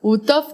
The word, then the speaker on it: Uhthoff: Y yo, ay, como la H muda.